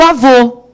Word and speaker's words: avô: E o avô, não é? Vocês estão vendo que é bem isso que acontece. O acento circunflexo tem o som fechado, é som masculino.